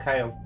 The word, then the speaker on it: Chale: Or is it Chale? Kale. Kale. It's spelled Chale, but it's pronounced Kale.